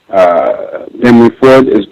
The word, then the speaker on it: Henry Ford: Just want to say that I agree completely with Henry Ford. Am I pronouncing it right correctly?